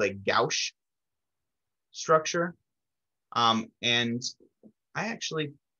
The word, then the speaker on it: gauche: now i'm curious um it's usually in uh in english or in chemistry we pronounce it gauche um and i won't